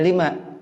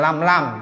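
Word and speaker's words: لِمَ: jadi artinya yang pertama bacanya lima yang kedua lam gitu jangan bacanya lam lam jangan ya lima lam tadkhulid Daro asalnya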